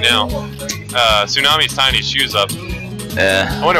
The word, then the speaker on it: Tsunami: Emphasis on the T. Tsunami. I think it's pronounced Tsunami.